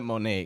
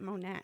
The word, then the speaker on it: Monat: Yeah, I call it Monet because I like to sound fancy in French. I know that's how I think that's the proper way to say it. But Okay. I'm like I'm being stubborn. I'm like no, I learned it Monat.